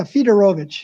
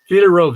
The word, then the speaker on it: Fiedorowicz: thought that, of course, the W is pronounced as a V, correct? Yes, that's right. That's right. Fiedorowicz.